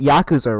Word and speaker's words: Yakuza: Hey, y'all know it's pronounced Yakuza, right?